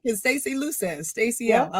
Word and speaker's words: Luces: so it's it's like Simon Says LC say luses oh I like it Stacy luses Stacy I like it so Stacy luses um let's get this straight Evolution Executive coaching